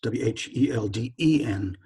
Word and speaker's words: Whelden: It's Whelden. Too often people misspell it with O-N, so it's Whelden.